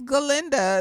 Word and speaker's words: Galinda: like she sitting up there like my name's galinda and it's like shut up